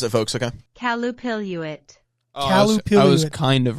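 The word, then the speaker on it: Qallupilluit: Because this is how you pronounce it, folks, okay? Calupiluit.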